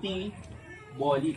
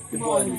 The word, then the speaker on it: T'boli: you when you see that word you always pronounce it as tea bolly parang may accent on tea te bolly pero ang tama pala t bolly lang parangan Laan Laan same principle Yes same